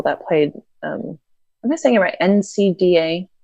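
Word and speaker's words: NCAA: played this thing about NC da is how you say it the college one yeah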